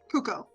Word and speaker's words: Cuoco: how do you say her last name Mercy Cuco Kelly other than Kelly Cuco is Melissa Blake and Roxy Rodriguez they're both